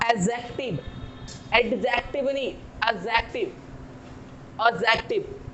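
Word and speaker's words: adjective: मैं बात कर रहा हूं एडजेक्टिव, एडजेक्टिव नहीं, एडजेक्टिव, एडजेक्टिव। हम बात करते हैं डी की, तो ये डी यहां पे साइलेंट हो रहा है।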